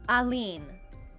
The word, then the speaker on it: Alina: Alina. Alina's glass house. Alina. Can I get a pronunciation check? Alen.